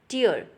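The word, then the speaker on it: tear: that is called टियर टियर is just like fair ठीक है एफ ई ए आर तो आपने देखा कि दोनों के दोनों स्पेलिंग सेम है टी ई ए आर टी ई ए आर और दोनों का प्रोनंसिएशन और दोनों की मीनिंग कंप्लीट डिफरेंट है फर्स्ट वाला टेयर का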